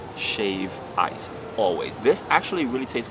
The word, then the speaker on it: shave ice: A lot of people pronounce it shaved ice with an ED, but it's never ever shaved ice. It's shave ice, always.